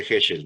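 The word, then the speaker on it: Heschl: Se llama, bueno, se escribe Helch, pero es de Heschel, ¿no?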